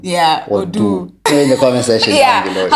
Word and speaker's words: Odoo: Odoo. Odoo. That sounds like if it was O-D-U. Yeah, Odoo.